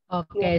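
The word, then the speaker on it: を: Bacanya Minasang nggak apa-apa kalau misalnya pas baca partikel wo. Untuk konteks partikel ya, bacanya tuh egao. Jadi W-nya tidak dilafalkan dengan jelas.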